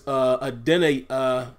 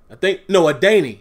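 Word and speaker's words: Adeniyi: He is my standout from that game, along with Ola, which now we know is Adenahi. Adaney. That's it. They're saying that it's actually pronounced Adaney. I know a lot of us were saying Adenaye, Adenahi, Adenaha, Adenaho.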